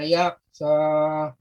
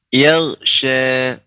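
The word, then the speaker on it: يغشى: Wal-laili idza yaqsa. Yaghsha. Yaqsa. Ya, diulang Pak. Ya. Wal-laili. Wal-laili idza yaqsa. Ya. Untuk pengucapan ghain Pak, tidak terlalu cepat. Yag, tidak langsung yag, tapi yaghsha, yag, ya, yaghsha.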